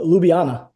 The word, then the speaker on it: Ljubljana: Is it is it Lub Lubanna? Uh Ljubljana. Ljubljana. Yeah, there's a lot of weird consonants in there. So, Lubana.